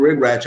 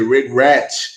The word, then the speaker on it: regret: Quando esse arrependimento ele for antigo, regret é um verbo regular. Então, para colocar ele no passado, tem que lembrar também que ele é um CVC. Regret, regret é mais forte, ele é sílaba tônica.